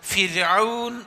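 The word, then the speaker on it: فرعون: ഇന്നഫി അഫി റാന് കസ്റോ റാന്റെ മുമ്പ് കസ്റോ ആണെങ്കിൽ റാ എന്നതിനെ ഉച്ചരിക്കേണ്ടത് രാ എന്ന ഉച്ചാരണത്തോടു കൂടിയാണ്. നമ്മളെ യാ ര ലാ വ എന്ന് പറയില്ലേ ര രായിൻ രാപകൽ ആ അക്ഷരമാണ് റാഇന് കസ്റാണ് അല്ലെങ്കിൽ റാിന്റെ മുമപ് റാിന് സുക്കൂനും മുമ്പ് കസ്റും ആണെങ്കിൽ അതുകൊണ്ട് ഫിർഔൻ എന്നാണ് പറയുക ഫിർഔൻ നേരെ മറിച്ച് റാിന് ഫത്തഹോ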